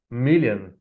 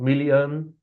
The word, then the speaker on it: million: I know million and billion is written with O, the letter O, but it is pronounced with a sound. Million billion. No American says million billion with O sound.